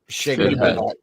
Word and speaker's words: Sienkiewicz: News breaking: Bill Shines It's pronounced Shigovich.